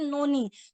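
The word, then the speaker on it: noni: ना एक बहुत ही शानदार फ्रूट इसमें है नोनी नोनी एक फ्रूट होता है एक्चुअल में अभी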